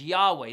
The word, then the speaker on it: Yahweh: And the personal name, we usually pronounce that is Yahweh.